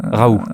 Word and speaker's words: Raoult: Alors c'est Raoult. Hein. Raoult. Voilà, Très on ne bien.